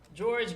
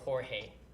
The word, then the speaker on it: Jorge: pronunciation of the name whether it's George or Jorge oh yeah it's Jorge but in this case I